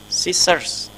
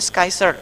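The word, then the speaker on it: scissors: bentuk sama seperti search search meskipun tulisannya Ada cc di sini jangan dibaca ya bacanya langsung search jadi bukan Ski Saya pernah dengar ada yang menyebutnya skyshare bukan Kaiser search ini harus ada es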